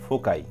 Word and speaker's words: foci: এই যে FOCI বলো তো এটার উচ্চারণটা কি হবে? ফোকাই, ঠিক আছে। FOCI এটা হচ্ছে ফোকাই।